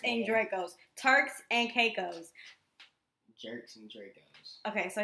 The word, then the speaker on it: Turks and Caicos: That's not how you say it. You fool. Like, you about to make me go off when you on this podcast. It is Shirts and Dracos. It's Turks and Caicos, not Shirts and Dracos.